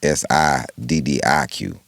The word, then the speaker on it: Siddiq: Right, My name is Siddiq. His name is Saadiq. right. It's actually pronounced different.